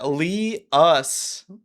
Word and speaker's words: Liuss: Lee us. Thank you for the correction. It's always like I've I've heard my name be pronounced in so many different ways.